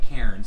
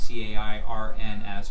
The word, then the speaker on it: Cairns: to the city of Cairns. It's spelled like Cairns, C-A-I-R-N-S, but it's pronounced Cairns. This is where the Great Barrier Reef is.